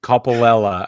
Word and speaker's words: Coppolella: something else just kidding couple Ella I believe is how you pronounce it he has been reinstated